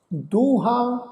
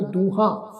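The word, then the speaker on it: ਦੂਹਾਂ: दो शब्द आ दूहां, हाहे नूं कन्ना उपर बिंदी लगा के उच्चारण करांगे दूहां। सिरियां, ऐड़े नूं कन्ना उपर बिंदी लगा के उच्चारण करांगे सिरियां। ठीक है जी, इनू दूहा सिरिया इस ढंग नाल उच्चारण नहीं करना, बिंदी सहित उच्चारण करना वा।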